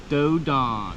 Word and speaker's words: Dos d'Ane: It's pronounced Dodon.